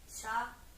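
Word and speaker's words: chau: Donc ciao, c'est pas pareil qu'en italien, donc ciao. Ça s'écrit ciao. Donc C-H-A-U. Ciao.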